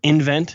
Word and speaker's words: nVent: Those three stocks are Badger Meter, which trades on the ticker BMI, nVent, or nVent, how they pronounce it.